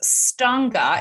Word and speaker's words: Stange: 100 and so as we mentioned this is pronounced stunga it looks like it's pronounced stage so it's